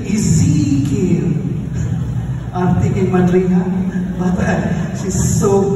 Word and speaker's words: Ezekiel: She told me how to pronounce Ezekiel. It's not just Ezekiel, Ezekiel.